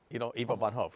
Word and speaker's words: Ivo van Hove: How do you pronounce it? Bo Van Ivo Hove. von Hof. Eva von Hove. Ivo von Hof.